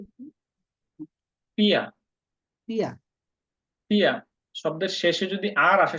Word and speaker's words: vier: হ্যাঁ, জার্মানরা সাধারণত শব্দের শেষে যদি আর থাকে সেটার উচ্চারণটা ওরা উজ্জ্ব রাখে, পিয়া, উচ্চারণ হলো পিয়া। আর যদি আপনি আর সহ করেন যেমন পিয়ার, এটাও সঠিক।